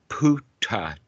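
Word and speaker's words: Buddhadasa: in in Thai language all the bees turn to a p and all the t's D's turn into a p so Buddha Dasa winds up being puta taught okay now how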